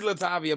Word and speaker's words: LaTavia: Is it Latavia? See, we're messing it up now. Now we're getting into the muck. It is Latavia, but I'm not like, I don't give a fuck.